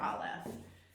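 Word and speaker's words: א: So Aleph, Aleph is silent. I can't make any sound with it.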